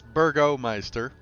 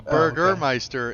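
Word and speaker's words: Burgomeister: it's strong okay I gotta jump in its Burgo Meister a Burgermeister is what Hamburglar was i like my version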